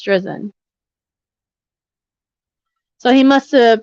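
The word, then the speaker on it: Drizin: collaborated collaborated with Mr drizzen on a number of research projects correct attorney I guess he mispronounced um his name wrong because then attorney gen attorney driven just for the record judge it's josen so he must have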